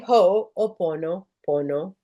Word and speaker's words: Ho'oponopono: So now you have the Ho'oponopono. And then a lot of you get hung up, like I did, and I still do. How do you say Ho'oponopono, right?